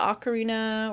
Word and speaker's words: Ocarina: There was the Zelda Ocarina, or Ocarina, however you choose to pronounce it. I think Ocarina is the correct way.